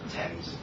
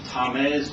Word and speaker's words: Thames: And what about Thames? I can imagine Tames or all sorts of other ways of pronouncing that that aren't actually correct at all.